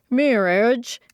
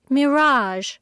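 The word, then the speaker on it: mirage: asked Uncle Benjamin; and, not waiting for Valancy to “give it up,” he added, “Mir-age and marriage.” “M-i-r-a-g-e is pronounced mirazh ,” said Valancy shortly, picking up her tea and her beans.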